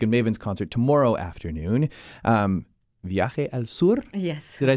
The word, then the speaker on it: Viaje al Sur: Viaje al Sur?